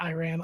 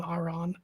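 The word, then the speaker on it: Arran: the island of rothin or Ain Iran not Iran Aon Aon according to Legend This is where he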